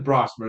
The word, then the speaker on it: Brosmer: His name is Brosmer. That is really how you say his name for that one there.